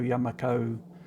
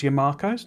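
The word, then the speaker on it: Yumako: The Yamako was because it sounded tomato Yamako. That's sort of where it's coming from. But it led to a lot of people pronouncing it. They weren't pronouncing the yum part. It was Yamakos, as in tomato, Yamako.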